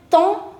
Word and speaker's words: temps: For that you have an expression, quel temps fait-il? Quel temps fait-il? Quel temps? It's not temp, it's temps. Temps. MPS, all of them are silent. So, quel temps fait-il?